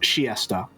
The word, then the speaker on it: Chiester: But I think that makes too much sense for them being to the Chiester to Winchester, and also apparently it's pronounced Chiesta.